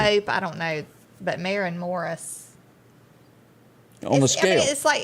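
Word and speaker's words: Maren Morris: Do you pronounce that Maureen Morris? Marin Morris.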